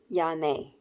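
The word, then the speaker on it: Janne: oldest son followed by Rachel and then j-a-n-n-e pronounced yane then we have the res kids recently nicknamed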